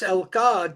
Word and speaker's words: Elke: And I know in Germany, it would be easy to say Elke, but it's Elka just because that's how they pronounce it in Germany, right? Well, it's a short E.